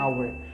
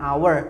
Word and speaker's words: hour: Jadi contoh yang tadi an hour, karena huruf H di sini adalah silent letter, tidak dibaca huruf H-nya.